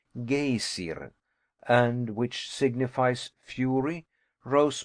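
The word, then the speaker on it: Geysir: The gazer, a word the Icelanders pronounce gayer and which signifies fury, rose majestically from its summit.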